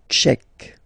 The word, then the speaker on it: tchèque: La République tchèque. So remember, Q-U-E, K, Tchèque. La, and then here as well, République. La République tchèque.